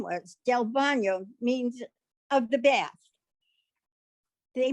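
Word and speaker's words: DelBagno: o but he says you don't pronounce the g it's bono which is bad his brother was trying to say tell the his person and he says del bono so the man wrote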